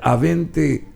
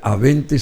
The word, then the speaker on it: Abente: Bueno, Avente, ¿verdad? Así es, esa es la pronunciación correcta. Porque la bestialidad acá dice la Aye, es. Versión ya castellanizada de mi apellido.